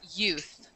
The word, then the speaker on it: youth: So, one thing, pronunciation-wise, this word that I've highlighted in blue, we pronounce that youth. Youth. Okay. Youth. Yeah, youth. Don't forget the TH.